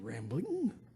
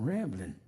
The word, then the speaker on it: Ramblin': I knew he didn't know me very well cuz he pronounced my name with a G on the end like they do in England. Rambling. I ain't rambling. I'm rambling.